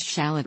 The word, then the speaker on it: shallot: while the term French shallot refers to the plant referred to on this page Anglophone Quebecers and British English speakers stress the second syllable of shallot the term a shallot